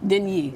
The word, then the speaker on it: Deigni: Pronounce it for us correctly. Deigni. Deigni.